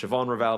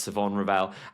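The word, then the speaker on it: Shavon Revel: I know it looks like it should be pronounced Siobhan Rall, but I have it on pretty decent authority that it's Savon Rell.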